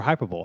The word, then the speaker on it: hyperbole: And this is not hyperbole or hyperbole.